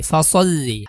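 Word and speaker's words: فَصَلِّ: তারপরে লাম জেল্লি, ফাসল্লি। আমরা জানি কোনো হরফের উপরে যখন তাসদিদ আসে তখন সেই হরফটা 2 বার উচ্চারণ করতে হয়।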